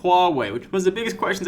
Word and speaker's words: Huawei: It's Hua, as in Hua, Hua, Hua, and Wei as in go that way.